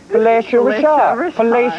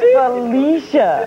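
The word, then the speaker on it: Phylicia: Felatio Rashad. No, it's Felicia. No, that is pronounced F-Y-L-L-I-C-I-A, Felicia.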